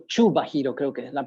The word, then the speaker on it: Kubahiro: o Chubahiro, creo que es la pronunciación. Siempre tengo problemas con la pronunciación de su apellido, pero creo que se escribe Kubahiro, pero se pronuncia Chubahiro.